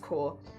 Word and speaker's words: Corps: of the competition but it's spelled corpse but it's pronounced core if memory serves and